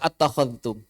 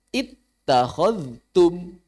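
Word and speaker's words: أتخذتم: Karena kalau pakai hamzah wasal bacanya ittakhadhtum. Sedangkan ketika kemasukan hamzah istifham bacanya at-takhadhtum. Beda.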